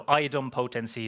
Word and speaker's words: idempotency: Uh so Iodum potency is is typically how it's pronounced.